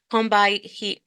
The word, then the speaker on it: Combahee: Jacobs to Lorde to the members of the Combahee, I always mispronounce that Yeah.